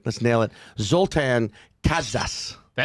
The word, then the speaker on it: Kaszas: Zoltan Kaszas. Kaszas. That's great. Yeah? That's great. You're close to the original. That's like the Hungarian pronunciation.